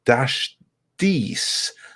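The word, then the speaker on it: DashDC: to say my name it's an acronym of my family's initials i say it dash these but do as you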